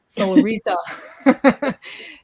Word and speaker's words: Solrita: And because we asked her officially how her name is supposed to be pronounced, is it Solrita? Is it Solretta? So officially, guys, it is Solrita.